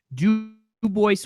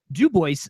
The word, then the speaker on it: Dubois: is going up to D Boyce Wyoming and it is pronounced dubo despite the fact that is named after the French Trapper Dubois oh man I love